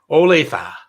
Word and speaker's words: Olathe: before i met you and i've got the pronunciation is olathe it's in kansas and it's a five and